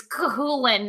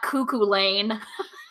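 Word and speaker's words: Cú Chulainn: Like, it's Cuchulainn, not Cuckoo Lane.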